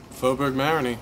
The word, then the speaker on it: Faubourg Marigny: as their new home how do you correctly pronounce the name of faberg Marin faberg mariny that's that's uh how I've always pronounced it